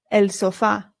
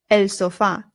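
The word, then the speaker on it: sofá: In English, we put the stress on the O and we say sofa. But in Spanish, the stress goes on the A.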